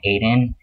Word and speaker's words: Aiden: It's a boy male name, it's an Irish name, and it's pronounced Aiden in English.